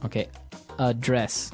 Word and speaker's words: address: So the verb address has the stress on the second syllable. Okay, address.